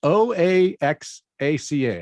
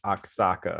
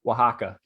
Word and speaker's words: Oaxaca: uh help pronounce it it's probably gonna be like aksaka or something Osaka it's a city in in uh I know it's a city in Mexico okay here you go Oaxaca Oaxaca Oaxaca okay Oaxaca Oaxaca Shaka